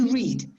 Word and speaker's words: read: this exactly the same but the pronunciation changes in the simple past you say red like sorry sorry the opposite in present you say read but in the past and the past participle you pronounce it like uh the color red red red yes okay okay very